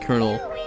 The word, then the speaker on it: colonel: how to say that colonel I know kernel is spelled like that and for some reason you say it like kernel Wicked.